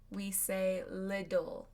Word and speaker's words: little: In American English, we pronounce them as a D. It's called a flap T. So instead, we say little. Little little.